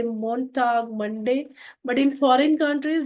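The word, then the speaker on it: Montag: डे ऑफ़ the week in India we से मोंटाग मंडे बट in foreign countries they start from like Sunday and ऑल। सोमता इज मंडे then मंडे then Tuesday मोंटाग dice स्टारग third is मिट walk मिट walk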